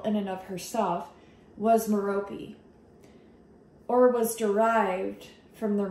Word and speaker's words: Merope: how I intuitively was drawn to meropi is how you pronounce the name in the pleaves which